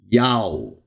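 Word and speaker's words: יהו: Yod, Wa, which you would normally pronounce today in Hebrew as Yo. But in ancient times, and maybe even better today, it is in Hebrew, Yao.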